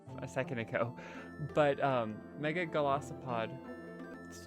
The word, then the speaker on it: Golisopod: Next we got Mega Golisopod.